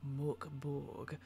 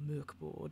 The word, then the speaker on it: Mörk Borg: way, today we are looking at Mörk Borg, or Mörk Borg, depending on your pronunciation. I know a lot of us US and UK people say Mörk Borg because it has a nice sort of rhyme to it.